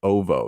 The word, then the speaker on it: Oovoo: surrounding the planet of Uvu 4. I think that's how you say it. Ovo. It's OOVOO.